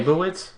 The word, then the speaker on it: Leibovitz: Annie, and I'm going to say her name wrong. Leibovitz? Either way. Leibovitz?